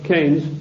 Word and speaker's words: Keynes: or Keynes he said Keynes was a better word because it arrived with it rhymes with brains and this is a